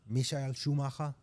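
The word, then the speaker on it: Michael Schumacher: Um I'm going to say his name the right way. Misha Schumaka, right? Oh, that's that's that's the right way to say that's the right way to say it.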